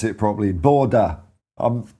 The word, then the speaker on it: Bodø: I learned how to pronounce it properly. Borda. I'm not right there. But better than saying Bodo, isn't it? It's not Lord of the Rings. It's Borda.